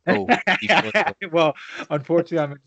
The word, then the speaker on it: Dephosphorus: But Listen, how do you pronounce phosphorus, for example, the chemical element? phosphorus. Okay, so it's basically the same thing since.